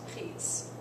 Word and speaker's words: prise: Donc, on met un E. Je l'ai prise. Ça se prononce prise.